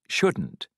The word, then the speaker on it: shouldn't: pronunciation can't and shouldn't part a listen and practice these statements notice how the T in can't and shouldn't is not strongly pronounced you can get a